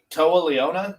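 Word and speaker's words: Toa Liona: Like their styles mesh so well, which is crazy because Toa Leona, is that how you pronounce his name? That's how I pronounce it.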